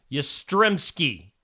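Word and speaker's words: Yastrzemski: top and I'm intimidated Carl yky is how you say that from baseball Baseball Hall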